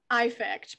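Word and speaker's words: Æffect: component and you bring up your concept of eye fact which i would love for you to explain to tell us about eye fact please if you will i'm glad i just love when i hear people pronounce it like that because we got to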